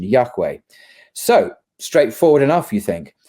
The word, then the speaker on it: Yahweh: understood to be Yahweh, although we don't really know for sure how it's pronounced. But this is how conventionally we understand the pronunciation, Yahweh.